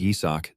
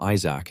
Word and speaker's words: Yi-Seok: Even though his name is Yi-Seok, these guys always pronounce it wrong and call him Isaac instead.